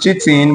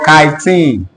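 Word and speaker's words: chitin: what is I said it's not pronounced Cheatin but kene kene all right so that's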